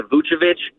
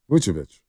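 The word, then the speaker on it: Vučević: So I honestly agree with the Vucevic, but you're going to have to give up a TJD.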